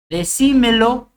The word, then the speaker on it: decímelo: eso no lleva tild decímelo es una esdrújula Por eso siempre lleva til pensa es un verbo